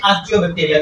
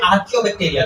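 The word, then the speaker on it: Archaebacteria: इस तरह से जो ओल्डेस्ट बैक्टीरिया थे इनको हम नाम दिया था साइंटिस्ट ने आर्कियोबैक्टीरिया का या आर्कियोबैक्टीरिया का। डिफरेंट प्रोनाउंसिएशंस है, आर्कियो भी पढ़ते हैं, आर्कियो भी पढ़ते हैं।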